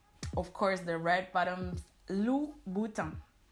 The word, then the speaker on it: Louboutin: course, the red bottoms Louboutin. It's not Louboutin, it's not Louboutin, but Louboutin. Louboutin. So just like in Vuitton, the N at the end of the word is not pronounced. Louboutin. Louboutin.